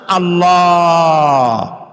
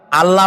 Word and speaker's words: আল্লাহ: আল্লাহর নাম আল্লাহ, বলেন তো। আল্লাহ নয়, কিন্তু আল্লাহ হচ্ছে অশুদ্ধ, শুদ্ধ হচ্ছে আল্লাহ। বলার সময় মুখটা গোল হয়ে যাবে।